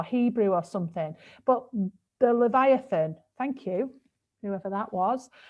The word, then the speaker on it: Leviathan: i don't even know how to say this levathian little evie ethan it's from the da it's from the bible or hebrew or something but the leviathan thank you whoever that was um it keeps